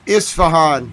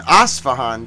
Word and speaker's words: Isfahan: It's Isfahan. As far as I'm concerned, Maysoon, I'm willing to listen to your pronunciation. Maybe there's an alternative pronunciation. But Google tells me it's Isfahan. Maybe there's an Asfahan, too. This is Isfahan, though, with an I.